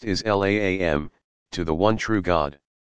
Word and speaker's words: Islam: the root meaning of the Arabic word Islam pronounced is laam to the one true